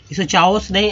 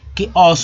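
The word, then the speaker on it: chaos: ठीक है, इसे चाओस नहीं, अब चलिए लोग ऐसे ही पढ़ते हैं जनरली, लेकिन इसे च को सी एच से च नहीं बोलेंगे, जबकि शुद्ध उच्चारण कि ओस होगा।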